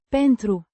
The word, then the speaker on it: Pentru: Pentru. With a slightly softer U. sound like in the word, soon.